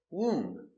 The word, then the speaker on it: womb: Example, womb. No B, just womb.